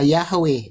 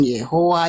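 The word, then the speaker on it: Yahweh: Jadi pengucapan yodhe itu pengucapannya yang paling tepat adalah Yahwe bukan Yehua.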